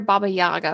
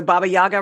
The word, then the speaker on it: Baba Yaga: But I really want to hear Baba Yaga from you.